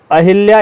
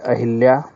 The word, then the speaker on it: अहल्या: दिया जा रहा है अहिल्या यह भी गलत है ठीक है तो बात आती है शुद्ध क्या हुआ शुद्ध शब्द होता है अहल्या अहल्या ठीक है अहल्या यह वाला शुद्ध शब्द है अंतर्धान पर भी